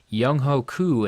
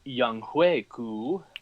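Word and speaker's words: Younghoe Koo: Kickers, let's take a look at Young Ho Koo and Harrison Butker. Actually, it is pronounced Young Hui Ku.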